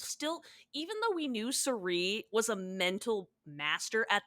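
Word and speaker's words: Cirie: It's literally like, It is pronounced she Sari, is right? Sari, Sari.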